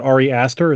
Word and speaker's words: Ari Aster: I also was hesitant about this movie because of the length, but was it Ari Aster?